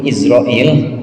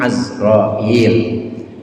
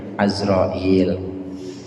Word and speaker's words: Azrail: kita udah tahu yang kita sering dengar dulu Izrail ini udah jadi bahasa Indonesia tapi bahasa aslinya asroil aslinya pakai fathahnya Ain bacanya azrail iman kepada Allah dengan